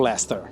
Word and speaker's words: Leicester: a você aprender sobre Lester é como se pronuncia se escreve lei sester Mas só fala Lester e aqui sobre a